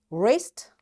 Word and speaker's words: wrist: w that's why this w is known as silent when it comes before r right the next letter